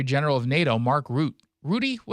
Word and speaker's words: Rutte: Rudy? How do you say his name? I've heard Rutte. Rutte? Yeah. Rutte, of course, he's European.